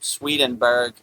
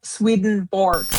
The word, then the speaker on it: Swedenborg: 10 divine quotes by Emanuel Swedenberg sent in by our beloved brother Darren Carter in the UK. Okay. Um, just to say his name again, it is Emanuel Swedenborg.